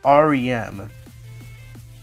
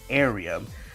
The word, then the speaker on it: Ariem: the tutorial then another cut scene and meets RM yeah about this at first I I I know no one pronounced it but I thought it was pronounced arum but apparently if you hear it when you